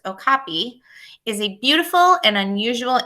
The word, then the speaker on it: okapi: The okapi, pronounced okapi, is a beautiful and unusual animal.